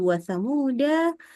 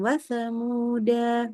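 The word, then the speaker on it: وَثَمُودَا: Jadi mau dia berhenti ya kayak tadi di wasamuda. Bahkan kalau kita berhenti ataupun wakaf maka bacanya jadi wasamud gitu ya. Bukan wasamuda bukan ya.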